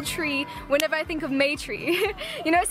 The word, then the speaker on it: Maitri: Maitri is spelled M-A-I-T-R-I, yeah, Maitri.